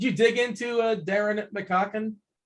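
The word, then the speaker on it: McCaughan: dig into uh darren mcconkin mccocken is that how do we pronounce that um i think you nailed it nailed it dude no it's it's makon you think that's the khan it's mccon i looked this up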